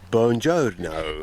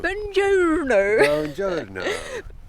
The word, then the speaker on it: buongiorno: It's beautiful buongiorno We had a very peaceful night here You're saying it wrong James May says it's buongiorno buongiorno We had a very